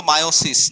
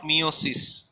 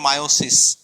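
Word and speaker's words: meiosis: একটু মনে রাখো ভালো মতো, এটার উচ্চারণ কিন্তু মায়োসিস, নট মিওসিস। কখনো মিওসিস বলবা না, এটার উচ্চারণ হচ্ছে মায়োসিস।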